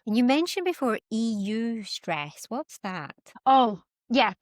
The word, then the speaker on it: eustress: It's written EU stress, but it's eustress, and that's the positive Brilliant.